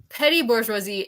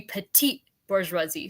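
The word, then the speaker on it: petite bourgeoisie: what I found that petty bouri is like it's supposed to be petite bouri so you know how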